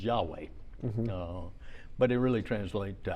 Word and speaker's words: Yahweh: So every time it's written as just initials, which we put vowels in and pronounce as Yahweh.